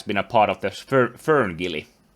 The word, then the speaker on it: FernGully: that he has been a part of the Ferngully. How do you pronounce it? Oh yeah. Yes, Ferngully.